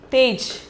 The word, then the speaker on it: तेज: Okay, then the second one is tej. Tej. The pronunciation is tej.